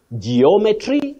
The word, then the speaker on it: geometry: who may understand it so you say geometry and not geometry the way many people say but as I always